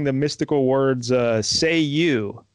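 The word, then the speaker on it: Cei-U: could summon him by saying the mystical words say you right but it's spelled CEI space.you but it's pronounced au so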